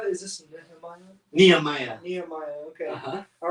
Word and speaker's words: Nehemiah: Nehemiah. Okay. Uh-huh. All right, just getting my pronunciation correct, guys.